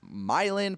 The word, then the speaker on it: Milan: Also, I'm from a town called Athens that is 15 minutes from a town spelled Milan that is pronounced Milan, Pennsylvania.